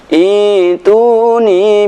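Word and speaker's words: ائْتُونِي: lahum syirkun fis samawat Ituni bi kitabim min qabli hadza. Ketika ayat ini disambung, maka tidak ada masalah. Fis samawati tuni. Akan tapi ketika waqaf fis samawat, maka cara membacanya ituni.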